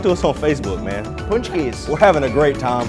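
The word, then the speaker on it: pączki: We're continuing our conversation about punchkis. I just learned how to say it today. Punchki, yeah, it can also be pronounced punch punchki. I was calling it a pakski.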